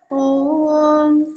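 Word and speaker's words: ॐ: হবে আমরা জানি এখানে ওম আছে তাই না ওম উচ্চারণ করার পদ্ধতি কি প্রথমে অ তারপরে উত তারপরে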